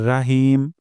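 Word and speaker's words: رحيم: তিন number point হিম আমরা এখানে হা উচ্চারণ করব গলার মাঝখান থেকে অধিকাংশ সময় দেখা যায়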